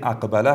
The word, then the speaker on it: اقبله: کلمه اول ما کلمه اقبله هست و زمانی که تلفظ میکنیم در قسمت قاف توجه داشته باشین علامت ساکن و همچنان توجه به تلفظ ما.